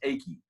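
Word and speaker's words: Eiki: It looks like it should be Ike, but it's actually pronounced Aki.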